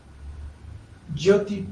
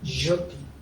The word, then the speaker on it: Jyoti: Por eso, la meditación que vamos a hacer hoy, vamos a cantar Jyoti Prana. Jyoti. Si ven en la descripción del video, está escrito con J, pero no es español. Se pronuncia J.